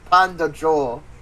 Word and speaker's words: Pendjo: I think it's pronounced Panda Joe according to her.